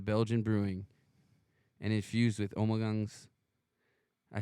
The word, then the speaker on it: Ommegang: It mixes rich maltness, a hint of citrus, notable fruitness from Ommegang yeast, and a warm, dry finish. This ale offers the unique flavors and aromas all Ommegang ales are known for, inspired by the deep